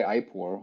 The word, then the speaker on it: IPOR: why Defi and then why iore or eore depending on you know if you're coming from the the Latin pronunciation it takes a concept